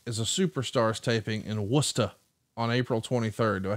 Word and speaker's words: Worcester: they spell worcester because they spell it up here like it says war chester but it's pronounced worcester but i thought it